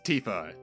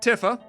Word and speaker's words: Tifa: i did fight with him this is tifa not tiffa tifa although thankfully in terms of name in pronunciations compared to at least titus slash titus